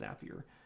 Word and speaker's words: Zapier: do that or zapier actually I think it's pronounced appier I hear a lot of people call it call it zapier but I think it's the other way because our slogan is zapier makes you happier so I think it's pronounced happier so for sure if